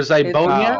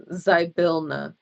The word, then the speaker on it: Zybilna: Isn't it Zibonia? It's Zybona, right? Or Zybonia? Oh. Zybilna. Zybilna.